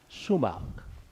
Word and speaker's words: Schumacher: Schumacher. Did I pronounce the last name correctly? Yes. Okay. How you doing, sir? How you doing? I'm doing very well. I'm Schumacher with the South Carolina Commission for Community Advancement and Engagement.